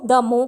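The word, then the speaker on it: more: इस बात को व्यक्त करने के लिए या एक्सप्रेस करने के लिए हम द मो का यूज़ करते हैं। मो मैं इसलिए बोल रही हूँ क्योंकि यहाँ पर आ साइलेंट रहता है।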